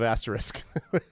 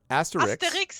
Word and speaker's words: Asterix: Wow, you mispronounced both of their names. What? What do you mean? One go. Not Asterisk and Obelisk. Asterix and Obelix. Okay, Asterix. With an X in the end. Asterix.